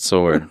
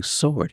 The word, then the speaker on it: sword: would run to that sword I got and you know what I don't know if You' ever noticed this but Dad doesn't say sword he says sword the W is pronounced in this he said oh